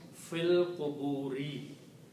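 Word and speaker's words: فِي الْقُبُورِ: You do not pronounce this alif here. So this changes into a small swar, becomes hamzatul wasl, alif not to be pronounced. The word becomes fil quburi.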